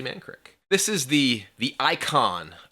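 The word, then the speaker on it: Mankrik: up is man crick which i've always pronounced as mankirk for years until i saw this and i was like wait it's man crick but it's actually actually man crick this is the the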